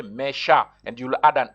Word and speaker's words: mes chats: just say mes chats, but still, you just going to pronounce mes chats, but you will add an S.